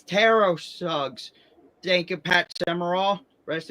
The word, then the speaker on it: Terrell Suggs: Tro tero suggs because to pronounce his name properly is tero suggs. Teros suggs. Thank you. I thought it was always Terrell Suggs. It's Teros Suggs.